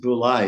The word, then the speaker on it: bule: Okay, it's actually pronounced Bule, and Bule Bule. in Indonesian means white.